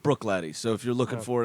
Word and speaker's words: Bruichladdich: the Bruichladdich bear barley that is spelled just so you know be rui CH la d di CH yeah pronounced Bruichladdich so if you're looking